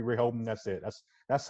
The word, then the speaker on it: Rehoboam: For me, I feel like it's just Rehoboam. Okay. I feel like it's got 3 syllables, 3 Rehoboam.